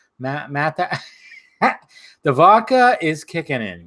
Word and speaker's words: Matthau: Matthau.